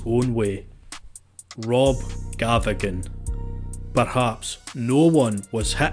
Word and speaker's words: Gavigan: Which a lot of you have wondered how to pronounce Gavigan.